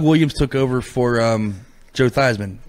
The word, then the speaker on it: Theismann: Yeah, and he changed the way his name is pronounced so it would rhyme with Heisman as part of his Heisman case. Yeah, Theismann.